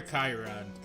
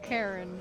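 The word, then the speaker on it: Charon: oh another poseidon buff so is it karen or kyron or chairman i mean because i like they say karen in the game not karen but yeah karen i guess you know but i've always said shy around and megan's googling i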